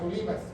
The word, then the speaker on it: Olivas: las Olivas con mucha Olivos verdad porque van a decir que no pronuncié bien Olivas es en el original así se llama el Monte de las Olivas dice el de Los